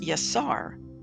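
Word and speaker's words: יָשַׂר: sound, sh sound, or a Sin with an S sound. So taking the S sound, Yud, Sin, Resh, would be pronounced Yasar, which can mean wrestle or to struggle.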